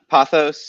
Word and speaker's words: Pothos: first question for you how do you pronounce pophas am i saying it right we get this question a lot uh pothos is what i say it's uh based on